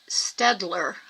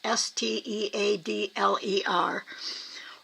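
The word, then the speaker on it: Staedtler: There's a brand, Stedler, I think it's pronounced. It's like Steadler.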